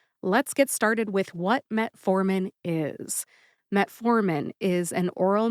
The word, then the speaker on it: metformin: about the pronunciations of metformin and glucophage glucophage is the brand name and Metformin is the generic name metformin has three syllables met as in I met Dr nerra